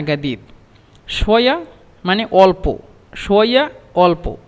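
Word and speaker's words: جديد: তারপরে শোয়া শোয়া বাতকাল্লাম আসানা না গাদিদ।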